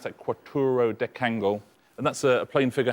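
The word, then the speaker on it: quattuordecangle: That's how you pronounce that, quattro decangle.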